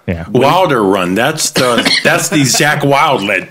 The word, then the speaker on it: Wilderun: Wilderun, is it? That's right. That's how we like to say it. Yeah. Wilderun.